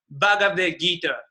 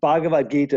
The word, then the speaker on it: Bhagavad Gita: so the name of the scripture is called bhagavad-gita is that correct how i pronounce i think it's a you know i